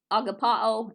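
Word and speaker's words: ἀγαπάω: Another word, like I was talking about love, agapao is the correct way to say it.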